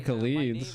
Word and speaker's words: Khalid: We haven't seen too many Khalids. My real name, it is Khalid. Khalid. Yeah. Okay, so that's how we pronounce it.